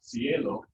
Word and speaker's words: cielo: with um so there's g and c both have like a soft sound it's followed by erai so you can have like um which is like hot c-a-l-o-r or another form of that would be like caligan that's more like spicy but then you can also have followed by here and i like uh cielo which is guy um and all right